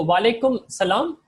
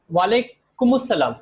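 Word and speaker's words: وعليكم السلام: When you're saying Assalamu alaikum wa alaikum assalam, be clear on the pronunciation. So wa alaikum salam is conversational, but when you want to be perfect Arabic, you'd say wa alaikum assalam or wa alaikum assalam. Wa alaikum salam is skipping the al.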